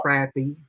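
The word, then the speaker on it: crappie: By the way, it's pronounced crappy according to my poll.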